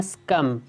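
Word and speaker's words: succumb: हिते B silent आहे, इनके पढ़णो आहे स्कम।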